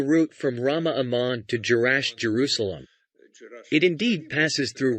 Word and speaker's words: Jerash: and girz and gerash J is sometimes pronounced as yah these are issues of Arabic pronunciation there are pronunciations with